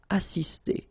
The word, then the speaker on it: assister: Okay, remember, vowel, vowel, double S, really strong S. Assister.